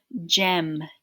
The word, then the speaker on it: gem: We do hear the E, but the G sounds like J. So we go J, M, gem, gem, like a diamond or a ruby.